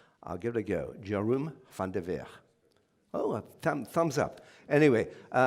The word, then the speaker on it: Jeroen van der Veer: So I did ask him how his name would be pronounced. I'll give it a go. Jeroen van der Veer.